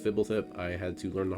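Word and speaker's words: Fblthp: Yes, it's pronounced Fibble.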